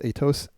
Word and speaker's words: Atos: here is uh atos I think it's called pronounced atos atos it provider for Winter Olympics hacked months